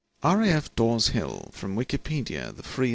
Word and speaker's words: RAF: to the M40 Motorway RAF is pronounced as separate letters the base is occupied